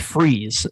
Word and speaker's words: Fries: dr victor free's phd surname pronounced freeze in most cases was a brilliant cryogenicist